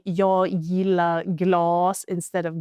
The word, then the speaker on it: glas: If we have this, for example, we have glas, we have one S, so the A, the A, the vowel is pronounced long, glas, meaning glass.